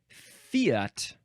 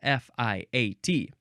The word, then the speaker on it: fiat: epode it's the word Fiat Fiat Fiat uh F you can say fat fat any of those it is spelled f i a t i just say Fiat the only Fiat I